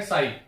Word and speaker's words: psi: इसको बोलते हैं साई, ठीक है, PSI इसको बोलते हैं साई, इसको प्रोनाउंस करते हैं साई।